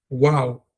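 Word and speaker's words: וַ: The letter wow with a sha is not it's wow. Wow. I'm maintaining the short a sound of the of the name of the letter which is wow.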